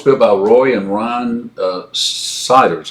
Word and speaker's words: Seiders: So that was built for fishing and hunting enthusiasts, and that was built by Roy and Ron Siders. I think this is how you pronounce their name, Seiders.